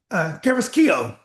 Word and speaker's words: Carrasquillo: Tonight on Nova Legends, I have Wakefield soccer coach Carrasquillo. Did I pronounce that right, Coach?